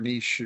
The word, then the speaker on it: niche: I mean, I think that, I always kind of wince at the word niche or niche, depending on how you say it or where you're from, because I think what